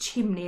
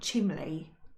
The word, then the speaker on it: chimney: I realized that chimney was pronounced chimney and not chimley.